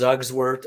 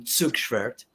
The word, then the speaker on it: Zugschwert: My last name is Zugswert, and I don't even say it right. That's right. It's Zugschwert. Pronounced Zugswert or Zugschwert, or if you're saying it in German, Zugschwert. But I've been for over 20 years.